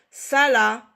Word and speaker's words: Salah: S-A-Sa, L-A-La, le H est une lettre muette. Salah. Bien sûr, en arabe, on dit Salah. Mais ici, en français, on ne doit pas prononcer le H parce que le H n'a pas de son. C'est une lettre. D'accord? Elle n'a aucun son.